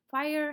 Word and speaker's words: FHIR: i will talk about fhir which is pronounced fire today and fire isn't